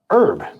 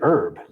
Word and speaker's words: herb: Um, herb, right? Americans say herb. British say herb.